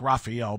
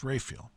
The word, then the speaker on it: Raphael: parish called Saint Raphael looks like Raphael but it's pronounced Rayfield okay the longtime priest